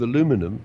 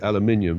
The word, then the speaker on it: aluminum: two sheets of aluminum I'll give it the American pronunciation we Brits normally say aluminium but I guess I feel there's always giving me trouble so it's going in New York I'll call it aluminum right so you have